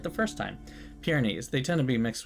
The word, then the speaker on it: Pyrenees: How do you pronounce that? Hold on. Pyrenees. Pyrenees. Okay, I was right the first time. Pyrenees.